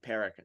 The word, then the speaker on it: Parekh: Parekh.